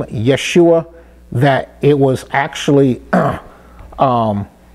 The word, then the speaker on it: Yeshua: name is changed from joshua or yahushua to yeshua the son of noon so this is the